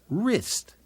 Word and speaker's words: wrist: here's another one WR when a word begins with W R the W is silent like the word wrist another WR word is